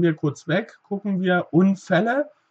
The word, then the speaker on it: Unfälle: Auto lassen wir kurz weg, gucken wir Unfälle. Und hier passt bitte auch auf, das LL, das doppelte L, verkürzt uns das L. Wir sagen also nicht sondern Ä. Ja, also auch hier wieder kurz Ä.